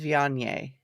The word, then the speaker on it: Viognier: Says Yeah, the pronunciation is Viognier.